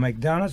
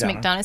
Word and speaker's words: McDonough: master's in leadership degree from McDonald school I pronounce that quick yes McDonough School of Business yes at Georgetown